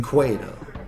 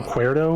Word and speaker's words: Cueto: Matt, how do you say his last name? Cueto. That Dario Cuerdo was here.